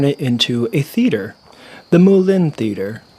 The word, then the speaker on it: Moulin: So I decided to turn it into a theater, the Moulin Theater. It's actually pronounced moulin in French, which means mill.